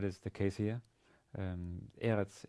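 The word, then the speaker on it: ארץ: the case here um eretz is uh has stress on the first syllable eretz and again starts with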